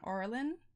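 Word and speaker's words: aureolin: use a real error how does how does that pronounced ar reelin areelin a-u-r-e-o-l-i-n orlin orlin orlin sounds oral and yellow so a109 is what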